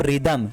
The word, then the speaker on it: rhythm: अगला है RHYTHM, यहाँ पे भी H वर्ड साइलेंट होगा, H का साउंड नहीं होगा, और इसको पढ़ेंगे हम रिदम।